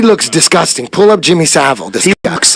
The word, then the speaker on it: Savile: Savile.